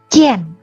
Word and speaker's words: jian: Maaf tadi bukan ian ya, ien. A-nya tidak dibaca dengan bunyi A, tapi yen. Karena dia sudah bergabung dengan I. Kalau A sendiri bacanya A ya. Tapi kalau dia bergabung dengan huruf vokal yang lain, I, jadi bunyinya ada yen, ye, ada e-nya.